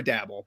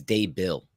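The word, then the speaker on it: Daboll: brian dave is it dable or dabble by the way i have issues with this myself it's definitely day is how you pronounce the first part i think it's day bill and i think i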